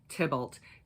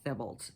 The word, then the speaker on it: Thibault: name is brayden b-r-a-y-d-e-n tibblet t-h-i b-a-u-l-t so it could be also pronounced thimbled but it's as as far as i know it's tibble so please don't hurt